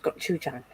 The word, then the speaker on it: gochujang: Yeah, it's pronounced gochujang.